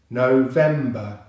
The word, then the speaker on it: November: The V consonant sound is followed by the single E vowel as in bread, finishing on the M consonant sound. So that's them, them. The final syllable is the same as in September. It's the B and the schwa sound, ba. So together we have no, them, ba, no, them, ba. Remember the stress is on the second syllable. November, November, November.